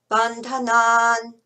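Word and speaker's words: bandhanān: So you got bandha, which is short and then naan, like naan bread. Bandhanan, mrityor, mukshiyamam vratat, swaha.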